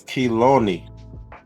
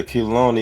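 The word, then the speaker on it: חילוני: The transliteration is saying that it's Kiloni. Kiloni? Yeah, Kiloni is a transliteration, and it's spelled out Chet, Yod, Lamed, Vav, Non, Nun, and Yod. So Kiloni, or Kiloni, I guess.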